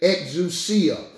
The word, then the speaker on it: exousia: That word power there is exousia. Or as some people say, exousia.